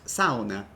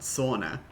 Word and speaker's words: sauna: It's pronounced sauna, not sauna.